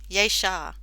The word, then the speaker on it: Jasher: Yeshar. See, I know it all. I know the first part, but the pronunciation.